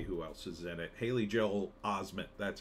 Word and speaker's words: Haley Joel Osment: Haley Joel Osment, that's how you say his name.